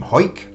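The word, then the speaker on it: Hawick: and the Bells from hike so instinct to try and learn to pronounce these places eh h-e-w-i-c-k if you've not seen that before you probably wouldn't say hike so there's Thomas White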